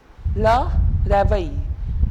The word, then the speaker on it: réveil: Le réveil. And why rare pronunciation? Because of the accent aigu right here.